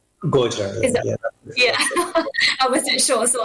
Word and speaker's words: Gojra: I'm not sure how to pronounce that. Is it Gujarat? Gojra, yeah.